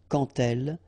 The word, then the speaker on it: quand elle: Remember, when you will have this D, you will phonetically pronounce it like T. Quand elle, dans un, okay, in